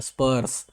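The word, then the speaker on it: spurs: इसको पढ़ेंगे, क्या पढ़ेंगे, इसको हिंदी में प्रोनाउंसिएशन ऐसे करना है स्पर्स। ठीक है, एस एस अलग, स पर्स, ठीक है ना।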